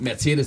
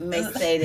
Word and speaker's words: Mercedes: good you're good yeah instead of saying like Mercedes I know say Mercedes Mercedes oh but how do you say it Mercedes Mercedes Merced mer Mercedes Mercedes we say Mercedes and y'all say Mercedes mer say it again